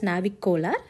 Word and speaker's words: navicular: Coming to navicular, remember it like navicolar. Pronounce it as navicolar.